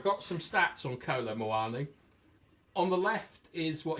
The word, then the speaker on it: Muani: we've covered him before rhymes with panani um so like BL you little so and so what did Bloody fabito say all right I got some stats on Co moani on the left is